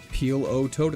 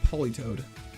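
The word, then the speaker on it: Politoed: Peel O Toad. It's Poly Toad.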